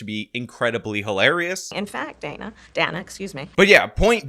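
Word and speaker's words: Dana Bash: was just asked by, apparently it's Donna Bash, which by the way, Kamala mispronounced, and she did it on the A, and considering she's criticizing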